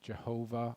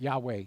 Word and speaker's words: Yahweh: And some translations have called it Jehovah in the past. That's almost an impossible pronunciation. But Yahweh is the way that it was most likely pronounced. That's the majority of Hebrew scholarship.